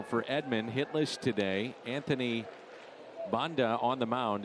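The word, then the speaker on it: Banda: Edmund hitless today Anthony Bond on the mound it's spelled b a n d a but pronounced Bond claim off of waivers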